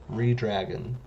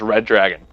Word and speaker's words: reDRagon: oh please oh ooh redragon re-dragon oh my dumbass always thought it was red dragon it's like where do you see a second d in there dumbass red dragon red